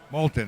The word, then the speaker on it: Moulton: Moulton or Moulton? Moulton. Okay. So we've been saying it right.